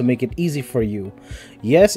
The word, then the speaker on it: Yy: to read Lily by Yee or pika pika yes that is the author's name is like why why so I pronounce it ye although the model was